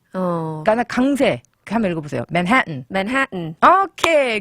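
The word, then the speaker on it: Manhattan: 그럼 삼음절이나 영어로는 맨하튼. 그죠? 그럼 보세요. 맨하튼일 때 네. 강세가 맨해탄 아니고 맨하튼.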